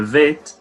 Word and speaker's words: Vet: A primeira, ela tem o dagesh, que é o que a gente já tinha falado da letra Bet, que vira Vet, sem o dagesh.